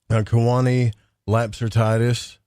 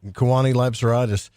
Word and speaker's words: Kewaunee Lapseritis: But this guy, Kewaunee Lapseritis, I said his name wrong. Kewaunee Lapseritis.